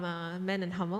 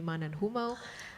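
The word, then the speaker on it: Mann+Hummel: I'm from Man and Hummel, or if you pronounce it the German way, Man and Hummel.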